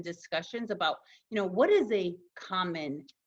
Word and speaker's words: Essa: you'll see that I taught readers how to pronounce my name right there so I've got my ISA ISA I never used to do that